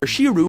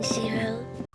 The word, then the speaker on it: Shirō: Also, the narrator mispronounces the name of Ilya's stepbrother, Shiro, as Shiru. This is especially egregious because right after the narrator says his name, there's a clip of Ilya pronouncing his name correctly.